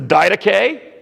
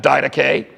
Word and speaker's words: Didache: Well, the first book I'm going to talk about is the Didache. That's how you pronounce that, Didache.